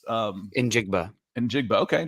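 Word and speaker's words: Njigba: how to pronounce um in jigba and jigba okay just sound it out there's no silence there um and jig buff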